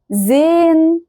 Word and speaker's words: sehen: فعندي gehen gehen sehen wohnen. تمام، كل ده ما كانش فيه الها منطوقه اصلا.